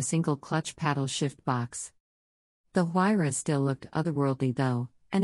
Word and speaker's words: Huayra: Then in 2012 the new model arrived, the Huayra, pronounced Huayra.